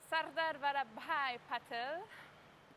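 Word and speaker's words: Sardar Vallabhbhai Patel: Sujata, please, the correct pronunciation of the airport. Sardar Vallabhai Patel International Airport in Ahmedabad.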